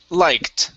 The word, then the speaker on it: liked: Next up, instead of liked, it's liked with a T sound.